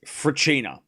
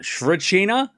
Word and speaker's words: Svrcina: And I'm pretty sure it's fina. And I'm sure I get corrected, but I'm pretty sure it's not fraina. The s is silent from what I could understand from his way of saying it. Um, fina is what I'm going with.